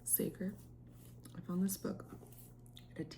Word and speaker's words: Sager: I think that's how you pronounce it. Sager.